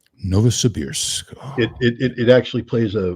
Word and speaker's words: Novosibirsk: I know that is, but I'm not even going to try to pronounce it. How do you say that, Scott? Novosibirsk. Novosibirsk.